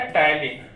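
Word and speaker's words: ptyalin: एक होता है टलिन। सर आप भी गलती लिखे टाइन। टलीन तो टी से होना चाहिए। नहीं बच्चा पी साइलेंट होता है हिंदी इतना सही है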